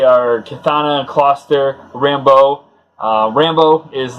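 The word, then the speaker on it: Rambeau: Rambo is like a kind of a militant-looking guy, but he's also a Ram. So it's spelled R-A-M-B-E-A-U. And it was kind of like Rambo.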